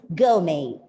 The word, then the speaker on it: gourmet: When a word ends with R, the R goes silent. So the correct pronunciation of this word is gourmet.